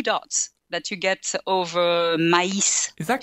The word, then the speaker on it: maïs: as a E, but they have to be pronounced separately as a A and a I, maïs.